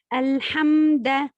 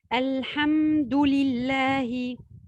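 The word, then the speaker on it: الحمد لله: Par exemple, dire Alhamda au lieu de dire Alhamdulillahi. Donc ici, on a changé la haraka, fatha et damma. On a changé la damma avec une fatha.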